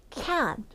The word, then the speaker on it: can't: 수 없다 이거는가 아니라 can't can't 발음이 날랑말랑 진짜 혀만 탁 쳐주고 끝내 줘야 돼요 다시 같이 can't 자